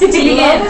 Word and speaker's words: Teigen: pronounced Teigen.